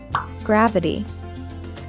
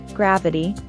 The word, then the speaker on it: gravity: planet or a star gravity note that the I is pronounced with a schwa sound gravity gravity gravity is holding me